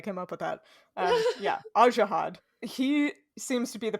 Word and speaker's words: Ajihad: twice before this because i always pronounced it as zehad and that's not correct i liked it yeah